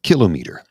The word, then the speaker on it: kilometer: that word is uh kilometer it's not a kilometer it's a kilometer it's a kilo and a meter also somebody said well